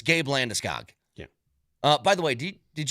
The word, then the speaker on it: Landeskog: It is Gabriel Landeskog. Landeskog.